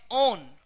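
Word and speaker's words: one: और इसी प्रकार से डबल बॉन्ड के संग जब CO ग्रुप कहीं पर जुड़ा मिले तो इसका उच्चारण होता है ओन।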